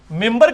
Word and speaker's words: منبر: ممبر کے سپیلنگ کیا ہے؟ منبر, لیکن پڑھا کیا جاتا ہے؟ کیوں؟ کیونکہ نون کے بعد, نون ساکن کے بعد بار ہے.